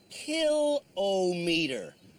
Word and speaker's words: kilometer: the word kilometer incorrectly it's pronounced kill meter writes Robert Spears a speech coach from Halifax well Robert I would say kill oh meter but the truth is